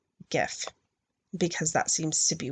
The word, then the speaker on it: gif: soft G like jelly gif has a hard G like goodie I don't have to